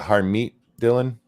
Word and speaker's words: Harmeet Dillon: How do you say the woman's name? Is it Harmeet, Dylan? Yeah.